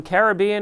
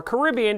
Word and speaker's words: Caribbean: congratulations and of course some Caribbean or Caribbean depending upon how you say it coffee way to